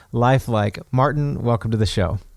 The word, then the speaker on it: Lifeliqe: Tell us a little bit about Lifeliqe, which, by the way, is spelled like lifelike, but with a Q instead of a K, right?